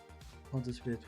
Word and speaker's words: Pontius Pilate: In Swedish it's Pontius Pilatus. Is it Pontus Pilate? Pontus Pilate. Pontus Pilate? Pontius Pilate. Okay.